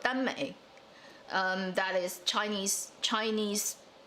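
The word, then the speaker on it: 耽美: Okay, it's based on a Japanese, first starting in Japan, called danmei. That is Chinese pronunciation of the word.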